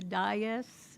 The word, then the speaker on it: dais: I just feel so honored to be here on the dais. And I've learned how to say that word, dais. I always wondered how you pronounce it.